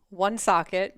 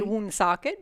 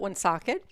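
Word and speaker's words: Woonsocket: rhode island is called one socket most people would say um socket because that is how it's spelled but we call it one socket and where did that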